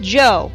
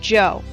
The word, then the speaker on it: Djo: them three tracks by djo pronounced Joe by the way I recently found that out it's pronounced Joe so there all right